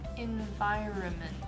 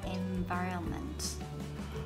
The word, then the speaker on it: environment: Environment. Environment. Yeah, no N sound. No, so there is M, but no sounds. Yeah, environment.